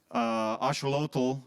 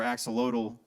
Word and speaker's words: axolotl: So Curvins has been consuming this drug, axolamine, which is extracted from a genetically modified axolotl or axolotl. Or axolot is the Spanish pronunciation, or axolotl in English.